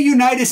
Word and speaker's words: Unitas: you yeah Johnny Unitas Johnny Unitas is actually how you say his name and it's always been that way but we still remember